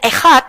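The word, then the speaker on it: אחד: menjawab pertanyaan RT 6 kata ehat dibacanya ehat di dalam bahasa Ibrani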